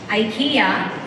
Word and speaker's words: IKEA: why I keep saying IKEA. I just want to say this. There are two pronunciations, IKEA and IKEA, and both are acceptable.